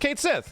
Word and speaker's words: Cait Sith: in the I guess localized version of ff7 it's pronounced Kate Sith just so that everybody